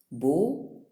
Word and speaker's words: bow: An example in text 12a is bow, that is in the first verse, in which the vowel can be pronounced either as O, that is as in slow, or ow.